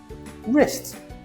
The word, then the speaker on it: wrist: The rule W is silent when it comes before R.